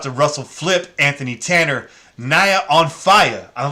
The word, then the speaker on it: Naya: I like that she put her name like that because I wasn't sure how to pronounce the first name, but when I saw On Fire, I was like, it's got to rhyme. It's Naya.